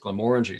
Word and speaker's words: Glenmorangie: could say back was the people that work there pronounce it Glam orangy so uh I'm going